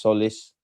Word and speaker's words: Tzolis: It's pronounced solace. The TZ is silent.